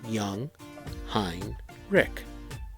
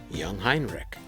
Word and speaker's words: Jungheinrich: tri-lift called young heinrich it is pronounced young hein rick young heinrich but today i want